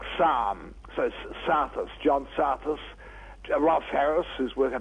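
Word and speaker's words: Psathas: there's John saus it's a hard one to pronounce but spelled p it's a Greek name isn't it PSA so like Sam so sthus John sthus rth Harris who work at our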